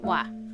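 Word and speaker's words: ㅘ: going down next diphthong is a combination of o and when we pronounce it it becomes wah you can see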